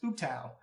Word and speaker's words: Ubtao: How we've been saying the god's name, Ubtao, is actually pronounced Ubtao.